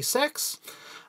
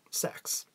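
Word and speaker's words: Saex: I would like to officially welcome my new show producer, Emily Sex. That's S-A-E-X. If you think it sounds like something else, I am attempting to say it right. It is Emily Sex.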